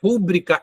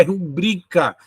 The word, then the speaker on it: rubrica: é uma proparoxitona gente a sílaba mais forte da palavra não é no ru é no bri então a pronúncia não é ó deixa eu pegar outro aqui que ficou ruim né ó a pronúncia não é rúbrica é rubrica Então o que é